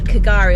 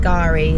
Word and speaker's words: K'gari: called Fraser Island agari although I think is actually pronounced Gary the silent k tours so we're literally